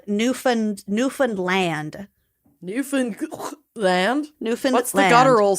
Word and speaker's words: Newfoundland: on this before but almost everyone pronounces Newland wrong oh great so there's supposed to be a slight guttural stop between New Found and land with the later f with the latter pronounced as if it were like isolated so L Nan Newan